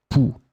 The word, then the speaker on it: pouls: So phonetically, it will be exactly the same. Pouls.